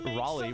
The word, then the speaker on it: Raleigh: Why is it pronounced Raleigh when it's spelled like Rayleigh?